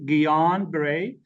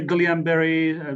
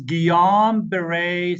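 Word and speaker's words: Guillain-Barré: so that's G ber gon Beret the way we say it some people say Gan ber but the the way you pronounce it is gon Beret syndrome gon Beret syndrome okay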